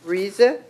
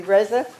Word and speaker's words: Reza: as directors for VMS, Reza. Wait, I pronounced that wrong. You just corrected me, Reza.